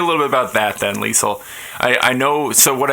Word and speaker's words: Leisel: bit about that then lisel I I know so what what I know so far is that your family pronounces your name with a soft s and that you play